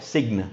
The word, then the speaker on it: sign: हम N लिखते हैं, G के बाद जब हम N लिखते हैं, तो साइलेंट बन जाता है word G. Okay? Like it is not a sign, it's a sign.